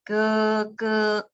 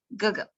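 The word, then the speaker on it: 哥哥: This one, 哥哥. The second, we do not pronounce like 哥哥. We do not pronounce like this in speaking. We pronounce like 哥哥. The second is without any tone.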